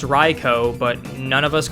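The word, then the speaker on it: Raikou: at the same time we all know it's pronounced ryko but none of us call it ryko we call it raiku but uh after that rant essentially um outbreak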